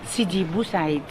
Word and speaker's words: Sidi Bou Said: Can you pronounce again the name of this? Sidi Bou Said.